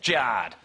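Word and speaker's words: Jarred: Jared is spelled J-A-R-R-E-D. Thanks, Mum and Dad, that's Jard.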